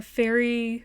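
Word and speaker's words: Faery: princess maker princess Baker Fairy Fairy Tales come true but it's spelled like Faye f-a-e and it has it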